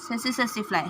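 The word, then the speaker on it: tsetse fly: से टस फ्लाई बोलते हैं आई थिंक। ठीक है? ये टी साइलेंट में होता है। सेसिफ्लाई हां याद आ गया। सेसिफ्लाई बोलते हैं।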